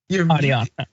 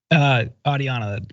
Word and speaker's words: Adiana: And congratulations to Jordan and is that Andia? Adiana. How you pronounce the name? Adiana.